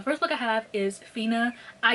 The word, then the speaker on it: Finna: Okay, so the first book I have is Fina. I used to pronounce it as Finna, but that's because I'm black, but it's actually Fina.